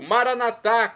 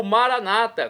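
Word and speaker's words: Maranatha: e agora eu clamo do aramaico maranat como dizemos nós católicos ou Maranata como dizem nossos irmãos separados os evangélicos ou protestantes não importa pronúncia significado é o mesmo Vem Senhor Jesus vinde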